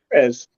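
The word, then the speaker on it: Pérez: Perez. Perez is the correct way to say it.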